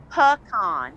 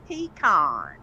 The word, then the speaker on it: pecan: had baked potatoes, and he did some grilled vegetables, and we had pecan pie. Pecan, not pecan. Not Pecan. It's pronounced pecan? pecan. Yes, pecan. Pecan, okay. Pecan pie, and we had he's an apple freak.